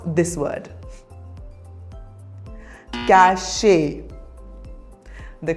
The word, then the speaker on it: cache: Cache. The correct pronunciation is cache.